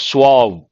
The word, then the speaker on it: suave: Smooth, polished, suave. This is an important word. You have to be careful with the pronunciation. Suave.